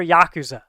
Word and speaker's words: yakuza: um it's like yakuza is it yakuza or yakuza i mean yakuza is correct on that one okay that's what i